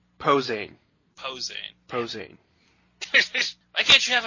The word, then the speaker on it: Posehn: Fo saying? Posehn. Posehn. Why can't you have an easier to pronounce name, dude?